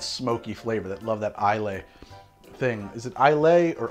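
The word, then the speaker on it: Islay: flavor that love that isla thing is it isla or isla i think in the us it's okay to say i lay but in fact it is isla there's a whole school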